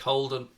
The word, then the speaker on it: Houlden: Anfield Agenda one, is just at Holden. But remember, it's spelled Houlden.